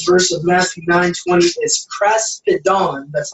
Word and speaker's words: kraspedon: word in this verse of Matthew 9:20 is kraspedon. That's how it's pronounced.